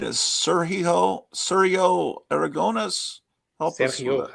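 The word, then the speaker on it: Sergio Aragonés: So the correct pronunciation is Sergio Aragones. Help us Sergio with it. Aragones. Say it one more time. Sergio Aragones.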